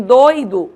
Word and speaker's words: doido: a diferença pela acentuação em doido eu não acentuo eu pronuncio como de tongo em doído eu acentuo o i e aí eu pronuncio como iato certo esse assento ele é